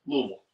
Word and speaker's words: Louisville: And it's Louisville. Yeah. It's not King Louisville. Right. So see, you got to know how to pronounce that stuff before you go traveling.